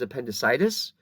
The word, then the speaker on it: appendicitis: I Illustrated earlier and notice the difference in pronunciation on the top word is appendicitis but it's appendectomy so the accent changes slightly between those two different words and so they